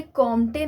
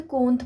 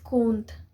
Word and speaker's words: Comte: August कोंत, ठीक है, COMTE कोंत की स्पेलिंग होती है, बट उसे कॉम्टे नहीं पढ़ते हैं, उसे कोंत पढ़ते हैं। ठीक है, आप लोग कंफ्यूज मत होइएगा कि ये कोंत कौन है, ऑगस्ट कोंत कौन है। वो कॉम्टे आप लोग पढ़ते हो, that is wrong pronunciation, it's कोंत।